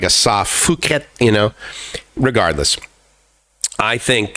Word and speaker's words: Phuket: interesting but um i have heard some people say uh phuket like pronounce the ph like it you know right and i'm like no it's not like philanthropic it's not you know it's it's it's phuket and every time i've ever